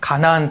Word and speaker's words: 가나안: 가나안 땅입니다. 그리고 하나님께서 약속하신 민족은 바로 이스라엘 민족. 이스라엘 민족을 유대인이라고 하죠. 유대인.